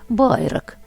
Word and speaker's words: Байрак: народження Горлівка але насправді село Байрак саме з таким місцевим наголосом Байрак згодом адміністративно злилося з